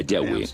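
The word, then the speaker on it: Yahweh: nombre más íntimo y personal que normalmente se pronuncia yahwe yah los pasajes con el nombre de yah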